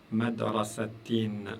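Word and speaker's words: مدرسةٍ: Si je prends juste une kasra, ça me donne le son i. Mais si j'en rajoute, si je mets deux kasra, ça me donne le son in.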